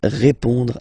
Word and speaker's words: répond: So final D is not pronounced. You will only have this on nasal sound at the end.